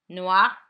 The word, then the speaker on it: noir: Noir it remains the same in pronunciation. Noir.